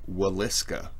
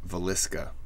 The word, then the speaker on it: Villisca: hello everyone welcome back so I am doing the horrors of the they it's pronounced waliska with like a w but people say valiska I've heard both uh this is the Horrors